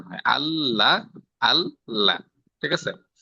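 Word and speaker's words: الله: আল্লাহ জি, আল্লাহ জি, ঠিক আছে, আল্লাহ অর্থাৎ দুইবার, আগে একবার উচ্চারণ হয়, পরে একবার উচ্চারণ হয়, ঠিক আছে।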